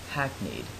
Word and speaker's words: hackneyed: Today's word is hackneyed. This word is pronounced exactly how it sounds. Hack, and then need.